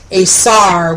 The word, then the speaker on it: aisar: So the Etruscan word for gods apparently is Aesar, which is spelled Aisar, and it sounds a great deal like the Aesir, which is the name of the gods in the Northern tradition pantheon.